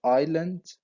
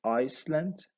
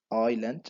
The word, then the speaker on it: island: desert we have also Island you don't say Iceland its Island okay Island the S is silent also we have cave